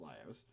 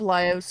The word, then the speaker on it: Laios: Laios' sword, I actually believe it is pronounced Laios.